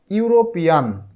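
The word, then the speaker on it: European: যেমন আমি যদি একটা উদাহরণ বলি, ইউরোপিয়ান, ইউরোপিয়ান, প্রথমে ভাওয়েল হিসেবে আছে এখানে ই, কিন্তু উচ্চারণটা হচ্ছে দেখো ইউ, ইউ, ইউরোপিয়ান, মানে ভাওয়েল হিসেবে আছে ই কিন্তু উচ্চারণ হচ্ছে ইউ, ইউরোপিয়ান।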